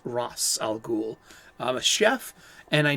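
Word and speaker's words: Ra's al Ghul: great comic book conversations how to pronounce his name is it razal ghoul is it rachel ghoul well in my humble opinion it's ross algul and that's my story and i'm sticking to it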